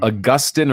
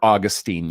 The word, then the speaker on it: Augustine: So Augustine or Augustine, you'll see people pronounce it both ways, is arguably considered the most important theologian in Christian history, not counting like apostolic people.